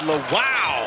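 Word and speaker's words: Lawal: that's why is Toby La wow yeah it is you got to make sure you pronounce the wow at the end of it because Toby makes plays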